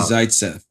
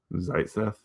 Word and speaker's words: Zaitsev: So Alexei uh Zaitsev. Zaitsev. It's like Zeitgeist. Like Zaitsev.